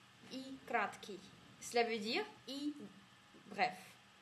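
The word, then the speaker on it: и краткое: En russe, ça se prononce comme I kratki. I kratki.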